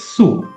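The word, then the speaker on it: つ: The third character is sue. Similar to the S row one su but the spelling is t s u sue.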